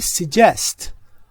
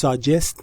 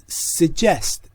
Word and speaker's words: suggest: یادم رفت بگم این کلمه تلفظش suggest نیست، suggest. این صدای یو شوا هست.